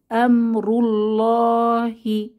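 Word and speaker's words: أمر الله: হু আল্লাহু তিনি আল্লাহ এরপর আছে আমরুল্লাহি আমরুল্লাহি র এর উপরে দম্মা বা আল্লাহ শব্দের আগের হরফে দম্মা থাকায় এখানেও আমরা মোটা করে ধ্বনিকে ধ্বনিতে লাম কে পড়বো এরপর বিসমিল্লাহি এখানে লা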